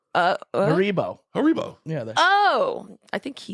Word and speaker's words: Haribo: Harborough. Haribo. Haribo.